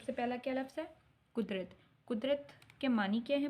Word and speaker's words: قدرت: سے پہلا ہے بچوں قدرت، کاف پیش دال ریتے، قدرت۔ سب سے پہلا کیا لفظ ہے؟ قدرت۔ قدرت کے معنی کیا ہیں بچوں؟